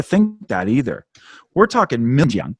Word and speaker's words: Xinjiang: We're talking Xinjiang, right?